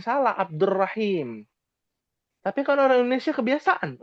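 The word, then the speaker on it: عبد الرحيم: Abdul Rahim salah. Abdur Rahim.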